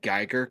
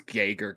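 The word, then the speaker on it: Geiger: apparatuses can it also I almost want to give you a pass for mispronouncing Gyer counter as gager counter because it sounds like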